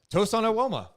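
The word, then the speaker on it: Tosan Evbuomwan: you see what is his name tohsan awoma tosan awoma we got it we got toaston awoma yeah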